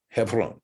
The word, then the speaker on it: Hebron: english hebron hebrew right hebron and this is pronounced hebron hebron hevron right okay so i thought you'd appreciate that